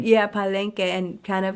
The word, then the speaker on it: Palenque: Palenque, Yeah, Palenque, and kind of like yeah, kept their community and their culture alive.